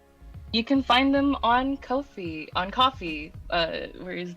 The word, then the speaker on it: Ko-fi: the Twitter account said it's pronounced Kofi like no fee because they don't have fees on their website okay it's a coffee